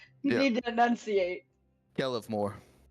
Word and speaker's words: Kelemvor: Nellemvor? You don't have any lips, dear. You need to pronounce. Yeah. No vocal cords either, so it's a little. You Yeah. need to enunciate. Kelemvor. Kelemvor.